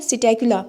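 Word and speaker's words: Psittacula: तीसरा है सिटैक्युला, P silent होता है, सिटैक्युला, जिसको हम पैरट बोलते हैं।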